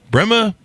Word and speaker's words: Pema: own life, he founded Pema Solutions. Did I pronounce that right, Brendan? Yeah, it's a combination of my wife's name and mine.